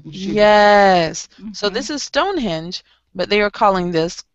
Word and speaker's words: Stonehenge: Well, you know, you have Stonehenge. That's how we pronounce it.